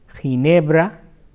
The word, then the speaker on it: Ginebra: So, if you come across or you wonder that how to pronounce that word, like few examples are ¿Cómo se pronuncia G-I-N-E-B-R-A en español?